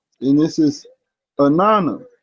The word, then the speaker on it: Inanna: The Sumerians called her name Anana, pronounced Inanna.